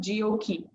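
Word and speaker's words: GOQii: is the founder and ceo of gokey pronounced geokey mr gondalas the founder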